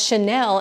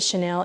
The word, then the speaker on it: chenille: must only have two brain cells because she pronounced it as Chanel instead of chenille. But let me tell you something. I'm from the same area as her and we all pronounce it Chanel.